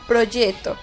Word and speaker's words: proyecto: Lo correcto sería decir proyecto, que además se escribe con Y en lugar de J y lleva una C antes de la T que produce una oclusión.